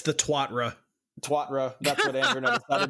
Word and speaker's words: Tuatara: I don't know how to pronounce the name of the vehicle. Is it? No one does. Is it Tuatara or Tuatara? It's the Twatra.